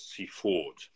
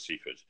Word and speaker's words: Seaford: The official pronunciation is Seaford. Seaford. If it's very proper, then you say Seaford, but everyone says Seaford.